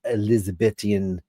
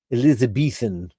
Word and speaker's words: Elizabethan: Now, let's get back to beautiful puppies dressing Elizabethian. Elizabethan. That's the right way to say it.